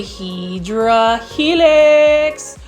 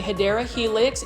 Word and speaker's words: Hedera helix: You can see that there was a Hydra Helix or a Hedera Helix, English ivy over there.